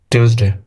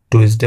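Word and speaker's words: Tuesday: রবিবার Monday Monday সোমবার টিউসডে টিউসডে মঙ্গলবার এটাকে অনেকে বল করে টুইসডে বলে ফেলে আসলে শুদ্ধ উচ্চারণটি হবে টিউসডে টিউসডে ওয়েনসডে ওয়ানসডে বুধবার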